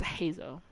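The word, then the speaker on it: Heizou: Okay, and Heizo's spelled Heizo, but it's Hazo.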